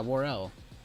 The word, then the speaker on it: Worrell: You literally sound like, yeah, Worrell. 2 syllables.